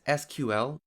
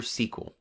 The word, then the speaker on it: SQL: what is SQL well like I mentioned already it can be pronounced either as SQL or SQL SQL is a standard